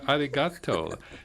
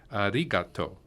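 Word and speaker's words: ありがとう: Ah that's almost like Arigato you know in standard Japanese the accents on the ri but in Kansai bend the accents on the toe so in standard Japanese you'd say arigato well in concept when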